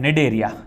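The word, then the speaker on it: Cnidaria: है जिसका नाम है डेरिया बोलो क्या नाम है जिसका नाम है डेरिया है ना सी साइलेंट होता है डेरिया डेरिया या इसी को बोलते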